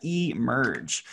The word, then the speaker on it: emerge: is this one e this one actually makes a long e sound so we got e merge um and then here